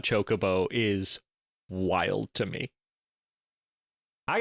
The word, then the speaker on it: Chocobo: But you mispronounced it. It's chocobo.